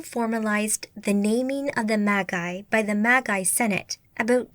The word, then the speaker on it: Magi: the same but pronounced Magi rather than Magi this had been based on the hard G of the Greek word go meaning sorcerer or